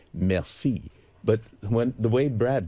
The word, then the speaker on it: merci: you and you look at it, you say merci. But when the way Brad pronounces it, it's really embarrassing. He gets it and he gets the bill and looks at it and says, mercy.